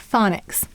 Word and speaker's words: phonics: The first syllable is fawn, and go ahead and sound it out with me. Aw, n. And the second syllable is ix. I, k, s.